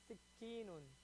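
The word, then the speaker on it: سكين: Sikinun. Shadda on the kaf.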